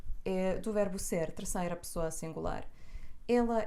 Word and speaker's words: é: a diferença entre as telas E então a pronúncia diferente e a conjunção Estudo português e inglês e é do verbo ser 3ª pessoa singular ele é inteligente e